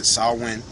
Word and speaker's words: Samhain: said again going back to Samhain or they pronounced Esau win which is derived from all Irish it means